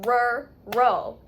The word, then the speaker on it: rural: It's 2 syllables, rural. So if you break it down, just do the first one. Rur. But you're mixing, so the 2 R's are in the same syllable? Rural. Rural. Syllable number 1. Rur. And then syllable number 2, O. O. It's not al, not A-L. That's not how we're saying it. It sounds like O, like U-L.